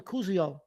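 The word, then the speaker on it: Koziol: The kid, Tanner, I think you pronounce his last name Kuzio.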